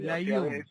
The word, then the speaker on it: Layún: Bueno, Layún es mi apellido. Layún. Suelen pronunciarlo al revés, Sí.